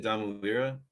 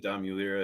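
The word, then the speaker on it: Domulira: just said it wrong i say it domino lira um i think dom mueller is probably a fine pronunciation too it's a ugandan name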